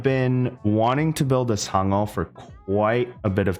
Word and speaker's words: Sangeo: Yes, I am Korean. It is pronounced Sangeo.